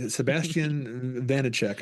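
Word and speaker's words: Vaniček: Sébastien, very Sébastien Vanicek, I believe is how it's pronounced.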